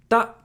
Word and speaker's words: た: Ta. Ta is just the T sound plus A, making a ta sound. It's pronounced like ta in taco.